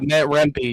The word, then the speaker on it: Rempe: Yeah, because the name McCarthy asks, so Greentree is just another Matt, I want to say this right, Rempe? Is that the correct pronunciation? If not, Matt Rempe, yes.